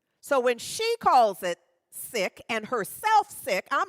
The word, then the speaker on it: Sikh: And I wanted you to know this about her, that she is a renowned Sikh activist. Now, I always thought the word was pronounced Sikh. She is Sikh and pronounces it Sikh.